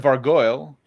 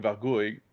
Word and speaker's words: vargouille: I always pronounce them Vargoyle because in French they're called like Vargouille and it's look like gargoyle, like gargouille. So I always pronounce them like similar to gargoyle, but with a V instead of a.